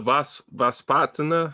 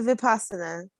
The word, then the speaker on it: Vipassana: You do the Vaspatana, how you say it? That's the Vipassana.